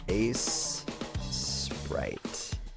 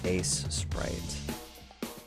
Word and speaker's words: Aseprite: It's basically Sprite with an A in front of it. Ace Sprite.